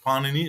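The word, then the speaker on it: Pāṇini: Antiquity was actually Panini Panini as the stress has to be on the first syllable was a Indian linguist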